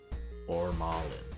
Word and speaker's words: Formalin: Am I saying that right? Formalin? Formalin? I don't know. I know formaldehyde. I know this other stuff. Luck stat is hidden. Dang. Formalin. Okay, I said it right.